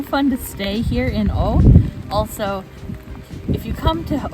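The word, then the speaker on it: Å: to stay here in O also if you come to O you need to learn how to properly pronounce it a with a circle above it is pronounced like the letter o oh not a you're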